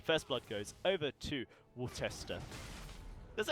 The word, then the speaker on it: Worcester: And first blood goes over to Worcester.